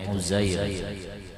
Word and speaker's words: Uzair: Qila, dikata, Auhallahu ta'ala, Allah memberikan wahyu ila Uzair, bacanya itu Uzair, Uzair an-Nabi, jadi Nabi Uzair alaihi salam, atas beliau akan keselamatan.